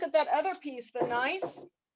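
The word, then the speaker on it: gneiss: that other piece the nice the g is silent so it's not good nice it's just nice it has nice lines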